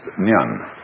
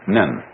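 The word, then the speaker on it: 念: It's pronounced nyan. In Japanese, nen.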